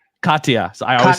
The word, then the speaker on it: Katya: Katiana. Am I saying that right? Katya.